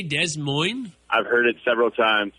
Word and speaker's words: Des Moines: And unless there's a teacher saying, no, it's pronounced Des Moines.